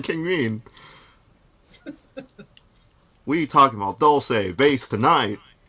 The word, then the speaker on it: Dulce: Is it pronounced Dulce? It's Dulce, man.